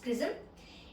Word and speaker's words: XRISM: x c r i s m which is pronounced prism it is an x-ray telescope which is which